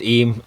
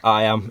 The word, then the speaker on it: Eyam: the female's voice maybe twice village of em pronounced Eve Eve something like this it looks like I am iam Lucas Part II why am a.m.